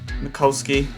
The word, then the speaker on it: Mikulski: Obviously we put Mikulski, is how you actually say his name. Mikulski, we got him up front alongside Collins.